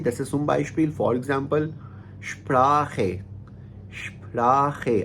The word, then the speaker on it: Sprache: अब आप इसकी एग्जांपल्स देख लीजिए, जैसे zum Beispiel for example Sprache, Sprache। अब इसमें ख जो है सी एच से पहले आ आया ना, तो हम Sprache पढ़ेंगे।